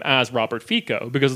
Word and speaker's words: Fico: And it makes me want to pronounce Robert Fico's name as Robert Fico, because it's like, oh yeah, this is Italian politics. He's a mafia boss. Yeah, it's Roberto Fico.